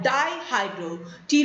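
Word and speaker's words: dihydropteroate: dye hydral Deloitte's entities remember P is silent here it is called die Hydra T right synthetics thus they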